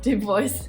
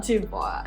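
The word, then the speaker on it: Du Bois: lotter stouffer and w.e.b do boys and it's pronounced dude voice not dupois i learned recently okay so this is my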